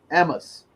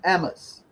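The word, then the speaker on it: Ammous: is uh emma's his last name is a-m-m-o-u-s amos sappadian ammos the bitcoin standard and you should get this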